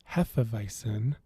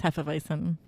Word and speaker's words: Hefeweizen: of beer which spoilers we've all been pronouncing wrong more later yeah that's a nice tease we are going to talk about heffa-visin hey for eisen no it's heffa-vicin can't do it well we'll see